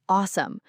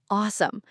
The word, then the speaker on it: awesome: The word awesome. That a sound at the beginning is important. Think of it like a but with a little o mixed in. like, "Oh, that's cute." Precisely. And then the sum at the end.